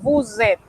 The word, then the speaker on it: vous êtes: Usted empareja ese pronombre convirtiendo a la hora de pronunciar esa S del bu en una Z y enseguida usted pronuncia esa E, vous êtes.